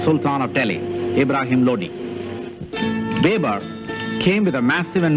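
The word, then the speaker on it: Babur: we have followed here the American pronunciation babber while the original name is bber as known in India after B's death the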